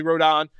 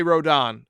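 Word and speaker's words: Rodón: rode on run Rondon it's actually wrote on uh or rhodon depending on if you say it correctly or not like I don't I say that spectacularly bad it's Carlos rodon and I say Rodan and I don't know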